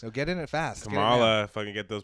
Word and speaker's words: Kamala: name in the world is it really kamala i think i heard it was supposed to it's supposed to rhyme with pamela so kamala makes sense kamala yeah it's like it's